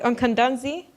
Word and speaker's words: Okandze: Okandze?